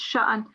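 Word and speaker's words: شَأْنٍ: You didn't pronounce the sakun here, yes, it's sha'an.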